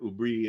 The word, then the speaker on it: hubris: so Andrew Atkin uh Hubris in English and uh Bri and or ubri in French um but morgon is